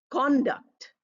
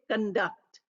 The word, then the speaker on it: conduct: a noun we say conduct and if we use it as a verb we say conduct conduct second syllable stress noun first syllable set conduct the con